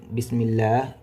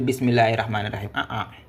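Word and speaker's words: بسم الله: qui porte la ici Bismillah. OK. Donc à partir de ne plus ne dites plus bismah pourquoi éliminer parce que c'est Hamz 300.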